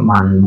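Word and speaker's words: من: Tapi kalau ini cocoknya pakai man bukan min, walaupun bisa dibaca min di sini karena nggak ada harokatnya. Man bacanya yang tepat.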